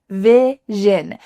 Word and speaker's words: vision: Vision. Those vowels are the same. They're both short I's.